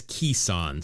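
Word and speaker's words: Kison: The pronunciation says Kissan.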